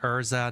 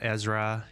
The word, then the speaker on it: Ezra: Uh Less Noi Top 4 says accidentally read Erza, not Ezra.